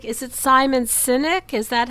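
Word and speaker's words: Simon Sinek: So, I'm guessing you really like is it Simon Synynic? Is that how you pronounce his name?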